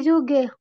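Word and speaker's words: Züge: Oke, jadi bacanya di Fahrräder. Räder. Di Fahrräder. Oke. Kemudian yang Zug, Zug. Der Zug di Zuge.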